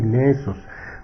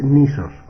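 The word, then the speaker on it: νῆσος: la voz griega nesos en el griego clásico se supone que se pronunciaba así nesos pero en el griego moderno es nisos Y esa esa palabra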